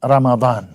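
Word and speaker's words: رمضان: হয়ে যায় সেই জন্যে আরবি শব্দগুলো আমরা বাংলায় বলি বা যেকোনো ভাষায় বলি শুদ্ধভাবে উচ্চারণ করা উচিত রামাদান শব্দটা হলো এরকম সম্মানিত আইবি টিভি ইউএস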